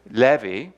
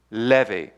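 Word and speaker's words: לוי: Now Levi, of course, in the Hebrew is Levi, and it's actually spelled Lamed Vav Hey, and it's pronounced Levi.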